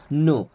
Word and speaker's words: know: क्या यू मीस आप नो यहां पर के होता है साइलेंट नो मीस होता है जानना